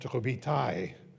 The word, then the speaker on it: Robitaille: His last name when he was baptized in Canada was Robitaille, pronounced Robitaille.